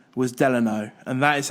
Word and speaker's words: Delano: think an ex-president and his middle name was Delano and that is how you pronounce it Benjy no you answered that's what I'm going on it's definitely Delano but I do know that rooms were modeled